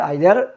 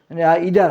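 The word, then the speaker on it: either: হবে দুইটার যখন যেকোনো একটা বুঝায় তাহলে হবে আইদার অর এখনো উচ্চারণ বলে ইদার বলে এখন বলে ইদার তা আমরা পরিবার আইদার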